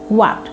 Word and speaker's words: what: সো you know হোয়াট নয়, এটা হচ্ছে হোয়াট এবং শেষের টিটাকে তোমাকে ডি এর মতো উচ্চারণ করতে হবে, কারণ এর দুই পাশে ভাওয়েল আছে।